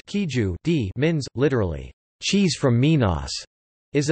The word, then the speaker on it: queijo de Minas: Minas cheese, queijo Minas or Portuguese, queijo de Minas, pronounced queijo de Minas, literally, cheese from Minas, is a type of cheese that has been traditionally produced in the Brazilian state of Minas Gerais.